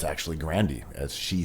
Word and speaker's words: Grande: not know we all did but it's actually grandi as she said herself so now I get